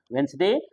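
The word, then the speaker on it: Wednesday: बात कर रहा हूं कि डी का उच्चारण वेनसडे डी नहीं होगा एज में डी नहीं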